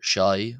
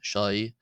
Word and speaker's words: ϣⲁⲓ: The letter shy. Shai. This is like the sh h or sh h in the English word ship.